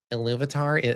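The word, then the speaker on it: Ilúvatar: Actually, Iluvatar, yeah.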